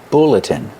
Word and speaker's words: bulletin: called a bulletin board pronunciation bulletin use a short uh like look and book bulletin this is a bulletin